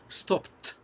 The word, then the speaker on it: stopped: We'll pay attention to the pronunciation of ed at the end of stop. شوف هنا بقى نطق ed بعد stop. stopped تنطق ت.